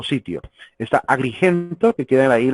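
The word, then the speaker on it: Citium: En latín es Quitium, así que probablemente sea pronunciado como Quitio o Sitio.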